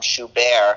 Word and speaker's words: Schubert: I'm not going to say I produced the album because I backed it financially, but this new album, Schubert, where the T is silent.